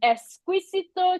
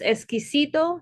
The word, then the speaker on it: Exquisito: We are here with Karolina from Esquisito Chocolates. Tell me if I'm saying it correctly, Carolina. Close. Essicito Chocolates. Oh, I I gotta roll that a little bit.